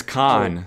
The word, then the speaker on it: Kaan: so yes bro so my name's khan my name is khan like k-a-a-n so iconic comes from